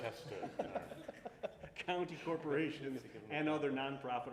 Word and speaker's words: Westchester: Matt produces storytelling videos and short films, documentaries for New York City, and is it Westchester or Westchester? I just want to make sure I'm pronouncing it right. Westchester.